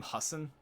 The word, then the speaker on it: Hussein: like for usain bolt isn't his middle name hussein i think it's how you pronounce it hey google what's obama's middle name